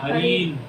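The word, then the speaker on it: हरीन्: उधर हरिम है लेकिन इधर जो है हरीन है, ये थोड़ा ध्यान रखना, उच्चारण में कई बार भूल जाते हैं हम लोग।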